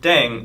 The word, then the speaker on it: Ddaeng: playing with language now the pronunciation of deng is similar to thang which is the slang of thing in english right last but not